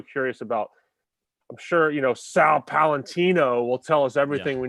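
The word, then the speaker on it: Paolantonio: It's not Palantonio. No, it's Palantino.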